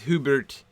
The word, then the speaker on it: Hubert: So in Anglo-Saxon, the U is pronounced like a U, like ooh, Hubert. But the Y is not pronounced like a Y, and it's not pronounced as we do in modern English, like a short I or a long I. It's pronounced E. That delightful vowel sound that we don't really do in modern English anymore. So you've got Hubert, Hubert.